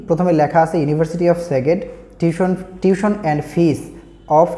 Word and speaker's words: Szeged: আজকে হচ্ছে আমি যে বিশ্ববিদ্যালয় নিয়ে কথা বলব এটা হচ্ছে ইউনিভার্সিটি অফ সেগেড বা কেউ হচ্ছে আবার এটারে উচ্চারণ করে হচ্ছে কি সেজেড বা এরকম কিছু উচ্চারণ করে বাট ডিফারেন্ট একটা দেশের ওয়ার্ড। তো যার জন্য হচ্ছে অনেকেই মিস প্রোনাউন্স করে এটা নিয়ে কোন সমস্যা নাই।